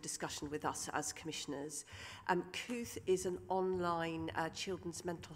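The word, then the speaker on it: Kooth: Kuth is an online children's mental health resource. It's spelt K-O-O-T-H, so you can find it by Googling.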